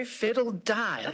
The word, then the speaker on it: Fideldye: Fideldye, like a fiddle. Okay, die.